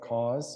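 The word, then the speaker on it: KAWS: New York artist named cause and his name is pronounced like cause so support a local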